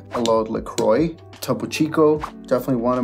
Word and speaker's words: LaCroix: And it's pronounced LaCroix. The name is French, Le Croix.